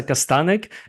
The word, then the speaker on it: Kastanek: yeah for us um in English like we we just say castanic okay so it's pretty